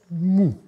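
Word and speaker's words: mw: l'eau et il ajoute et ça se prononce mou ce que l'on retrouve dans le nom de Moïse parce que Moïse sauvé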